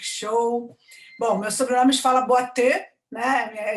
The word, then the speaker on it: Boiteux: E a Luciana tem um sobrenome em francês, que é Boité. Então, se escreve Boiteaux.